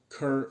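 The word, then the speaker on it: Kehr: It's called Kerr sign. Kerr is spelled like K, E, H, and R.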